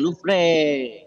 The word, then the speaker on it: Louvre: Ini ada Museum Louvre, bacanya Louvre bukan Louvre. Louvre.